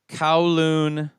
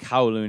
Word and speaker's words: Kowloon: an rpg it's called kowloon i think kowloon is how it's pronounced it's k-o-w-l-o-o-n kowloon high